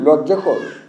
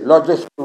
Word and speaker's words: লজ্জাকর: আর এখান থেকে কিন্তু পত্রিকায় যারা কাজ করেন তাদের একটি তাদের সম্পর্কে খুবই লজ্জাকর, একটি লজ্জাস্কর বলছি না, এখানে অনেকে লজ্জাস্কর বলে ভুল লেগে থাকে, লজ্জাকর জিনিসটা প্রয়োগ করা হয়।